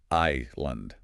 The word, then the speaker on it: island: Yeah, that S right there after the I. Yeah, your instinct screams Sandland or something like that. Nope. That S is another silent one. The pronunciation is just island. Island. Like your I then lend. No s sound at all.